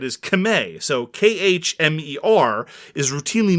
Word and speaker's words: Khmer: pronounced that way and the only reason why we say khmer is a legacy of french colonialism qvr stands on colonialism and the way the word is actually said is kame so k-h-m-e-r is routinely